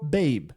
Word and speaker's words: babe: É, a letra e a gente não precisa pronunciar ela no final das frases, né? Ela tá aqui só para acentuar a letra A, né? Se não tivesse o E, ficaria bab.